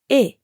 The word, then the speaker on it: est: of other French words you don't normally pronounce the final letter t instead you just say e unless the word that